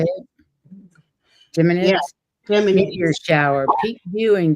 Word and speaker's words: Geminids: Geminids?